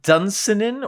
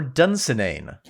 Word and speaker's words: Dunsinane: Does he pronounce it dunenin or dunenane? Dunenin. He pronounces it dunen. He ignores the magic e on the end.